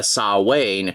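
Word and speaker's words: Samhain: only remembers him being Sam Hayne I wonder if that's how you're supposed to pronounce it I know he's named after the Irish folklore character which is traditionally pronounced uh saw Wayne but they call him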